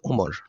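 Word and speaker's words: عمر: উচ্চারণ হবে আমর আর আইন মিম র এর পরে যদি ওয়াও না থাকে তাহলে তার উচ্চারণ হবে ওমর ফেল ও কালিমা হে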